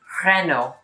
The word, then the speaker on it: Renault: hear renault but actually in the french way of saying it the l and the t are silent and the a and